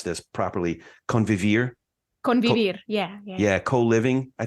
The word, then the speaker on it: convivir: and again, I'm going to ask you to pronounce this properly, convivir.